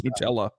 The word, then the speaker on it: Nutella: Tell them how you pronounce Nutella. Nutella. It's Nutella. And the founders of Nutella would tell you it's Nutella.